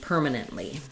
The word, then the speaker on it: permanent: In permanent, um, we have first syllable stress letters e r say the sound. Um, so you can think of that as e r ur, whichever way just helps you get that. It's not a dip thong, no gliding, just the straight sound. So I'll just use eer purr.